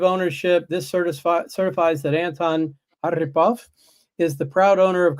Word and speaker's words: Arhipov: Arhipov. Arhipov. So accent, Yeah. like typical American, I put the accent on the wrong syllable.